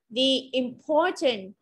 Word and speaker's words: importance: âm thứ hai import trọng âm rơi vào âm tiết thứ hai importance Where and Conversation Conversation